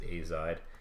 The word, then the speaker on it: azide: So let's take this nitrogen here, and this is called the azide ion. You might see hear people pronounce it azide.